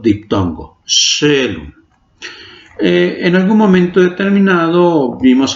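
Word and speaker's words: caelum: Shelun. Shelun. Si yo veo la escritura de Shelun es C-A-E-L-U-M. Si lo leo así sería Kaelum. Es Shelun.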